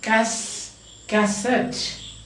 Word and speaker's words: cassette: Now you like cassette, cassette, cassette, cassette, E-double-T-E, cassette, isn't it?